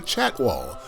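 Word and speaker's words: Chatwal: Let me pronounce it correctly. The Chat Wall, a luxury collection hotel under the Marriott Bonvoy brand, of which I am a member.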